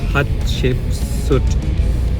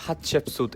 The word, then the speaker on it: Hatshepsut: So I pronounce it based on like what Het, Ship and Sut.